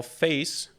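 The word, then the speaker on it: Faiss: so you don't actually install face if again that's how that is how it's pronounced but you install the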